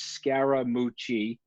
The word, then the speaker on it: Scaramucci: first or second grade my last name is scaramucci that's four syllables he picked the third syllable of my name mooch and he sort of